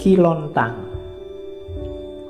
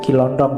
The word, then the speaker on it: Kiontang: Ada muridnya namanya Kiontang. Kiontang. Ini waktu diinterogasi antara lain yang diucapkan itu bukan Kiontong ya. Kamu ngertine Kiontong.